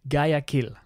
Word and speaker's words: Guayaquil: the second biggest city, which I always struggle to say, Guayaquil. Yeah, so it's spelled Guayaquil. Guayaquil. Guayaquil. Yeah. We think, but then every time we say it, local people are like, no, it's a Guayaquil. Guayaquil.